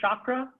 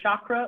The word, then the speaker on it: chakra: you ever heard of chakra you've heard anyone say chakra with an sh that's not right it's not chakra it's chakra chakra yeah it's chakra chaka stop sharing next